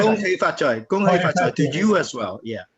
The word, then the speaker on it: Gong Hei Fat Choi: Kuhi Fat Choi, is that right? Kuhi Fat Gong Choi. Hei Fat Choi. Gong Hei Fat Choi to you as well.